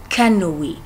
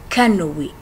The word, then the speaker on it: canoë: Mais aussi, il y a des fois là où vous allez le prononcer comme si c'est E avec l'accent aigu, comme par exemple canoë, canoë.